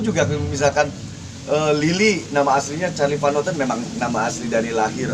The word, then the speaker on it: Charly Van Houten: Dan memang Muhammad Charlie Van Houten walaupun dengan pakai P gitu, tapi kan memang namanya diucapkan Muhammad Charlie Van Houten, bukan Cas Mali Parli.